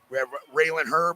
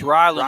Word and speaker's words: Ryland: Well, here on mat 7, we have Raylan Hurley from or Ryland. How do you say that first? It's Ryland. Hurley.